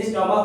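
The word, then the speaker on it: stomach: जैसे स्टमक हो गया, नहीं, तो स्टमक में क्या हो जाता है कि ये कौ का उच्चारण देता है, हालांकि रहता है लास्ट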